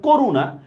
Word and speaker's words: করুণা: দেখেন যেমন দেখেন করুণা মূর্ধন্য আছে, আমরা উচ্চারণে দন্তন্য দিব।